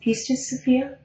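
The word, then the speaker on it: Pistis Sophia: hack it I'm sorry she said the pce to sopia and it's spelled p i s t i s peace to Sophia the gospel of Phillip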